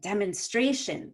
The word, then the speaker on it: demonstration: has four syllables demonstration you're actually going to have two stresses because we stress every other syllable this is sounding like math class so i'm going to have secondary stress on the de da no stress on men i'm not going to